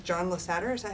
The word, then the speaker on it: Lasseter: I guess it's John Lasseter, is that how you say his name? Lasseter.